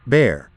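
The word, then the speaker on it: Bexar: the rural areas of bear pronounced bear county and terrorized anyone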